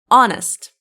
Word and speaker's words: honest: It's honest. H is silent.